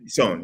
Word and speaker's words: Son: Son? Son, yeah.